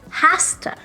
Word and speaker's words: has to: to it has to when we put has two together it doesn't become hafta it becomes hasta pasta it rhymes with pasta I have